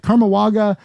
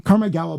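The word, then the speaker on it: Karmagawa: message, and she's like, she mispronounced it. She was like, Karmawaga, I don't know what you guys do. Karma Gawa, by the way, Gawa means to do or to make in Tagalog.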